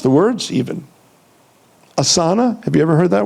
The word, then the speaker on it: asana: to practice but they didn't know how to pronounce the words even asana. Have you ever heard that word? Asana. I don't mind people going and taking having an assa asana.